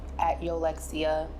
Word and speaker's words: Yolexia: You say it right. And on social media platforms, Yollexia, Instagram, Tik Tok.